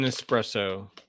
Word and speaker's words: espresso: guys can see that it's called No X in espresso as it's supposed to be pronounced which is a dark